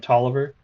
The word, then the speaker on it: Tolliver: But just so you all know, if I start when I start calling him Tolliver, that is actually how it's supposed to be pronounced.